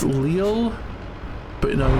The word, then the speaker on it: Lille: It's pronounced Lille, but no, you're not being there.